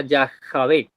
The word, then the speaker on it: Yahweh: le introduce la autoridad Yahweh en en hebreo se pronuncia ya Javi el Dios de sus